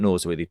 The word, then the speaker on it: Norsworthy: So I should have said, "Hi, I'm Norsworthy." I would have said Norsworthy for New Zealanders, But with the emphasis on the R, right? Nors, right? Yeah.